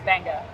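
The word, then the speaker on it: Beqa: design benga Lagoon Resort it's spelled weird it's b-e-q-a but in Fijian that's benga I asked you about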